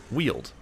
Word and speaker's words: Weald: see there's another one it's pronounced like Weald like Mike how you weld a weapon no wait oh you